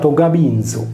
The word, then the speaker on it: Gabinzu: En latin, Gavino était associé à Gabinius, prononcé Gabinzu, et était également un noble romain.